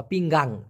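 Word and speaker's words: pinggang: হচ্ছে দেখুন খেয়াল করে পিং গাং মানে এই এন এর পরে আরেকটা জি দেওয়া পিঙ্গাং পিঙ্গাং মানে কিন্তু মাজা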